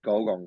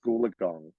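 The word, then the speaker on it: Gulgong: Orange because you ex you said golgon correctly because no one ever knows how to pronounce this golden they're always like gulagong um yeah like no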